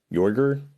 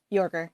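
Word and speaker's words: Joerger: model from uh Fred how do you pronounce that jorger Yorker yeah yeah Fred Yorker did all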